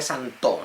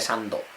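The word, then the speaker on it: 三頭: Se dice santo, no se pone los comillas al tres, no se le dice sando.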